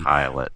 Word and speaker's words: Pilate: just to be helpful it's pronounced and there's a little pronunciation key pilot yeah it and i